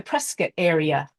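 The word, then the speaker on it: Prescott: can read through some of these uh the presc area notice I know how to say it presc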